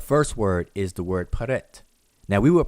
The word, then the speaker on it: prt: These 3 glyphs here are transliterated as PRT, and we pronounce it with Egyptological pronunciation with Peret.